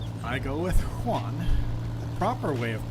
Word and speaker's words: Juan: But the right way is Juan, like a H-U-A-N.